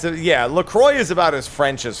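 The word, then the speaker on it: LaCroix: a can of Lea but it's actually lroy which is how I would think to pronounce it if I wasn't overthinking it why don't I recall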